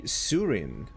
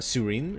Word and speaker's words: Sooreen: is going to be Surin well I hope I pronounced this correctly so double o w e means uh Surin it's gonna be the pronunciation in my mind and once again we